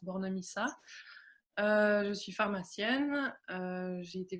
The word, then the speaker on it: Bornemisza: Donc moi, j'ai un nom un peu qui a l'air compliqué comme ça, mais en fait ça se prononce Bornemissa.